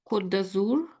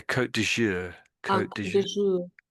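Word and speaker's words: Côte d'Azur: Kazour is it? Yeah. Yeah. That's pretty much pronunciation. Yeah. Kot dour co that's it so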